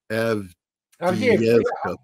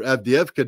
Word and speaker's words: Avdiivka: I'm sure I just butchered that. Avdiivka.